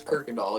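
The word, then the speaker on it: Kuykendahl: But if you're from Houston, you'll probably pronounce it as Kirkindall, even though there's no R there.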